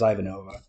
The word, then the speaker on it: Ivanova: no her name is Ivanova that's how they pronounce it in the film uh and she is